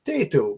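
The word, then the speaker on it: Tayto: So you have to put on an Irish accent when you're saying it. You can't say Tato.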